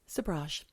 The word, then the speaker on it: Sobhraj: Well, Charles Sabra. Yes, Sabra.